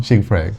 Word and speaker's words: Sheigfred: Tama ba yung pronunciation ko? Shigfred. Yeah. Shigfred.